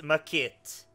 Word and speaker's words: Maquette: you're not totally missing i'm pretty sure this is a french word but it's makit that's how to spell